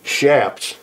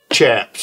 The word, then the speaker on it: chaps: By the way, it's pronounced chaps, not chaps. Because a lot of people say chaps and. I say chaps. Gets on my nerve. Those chaps. It's a Spanish word. It's from chaparreros.